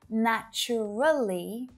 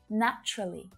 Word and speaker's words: naturally: the same with naturally most of my students will pronounce naturally with four syllables right but when a native speaker says this word out loud usually you'll only hear three syllables naturally naturally naturally so i can already